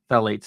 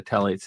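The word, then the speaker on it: phthalates: Lisa and it's regarding the question of toxic Tates in in in olive oil so for those of you who need to know it's the Tates is is um uh is spelled p h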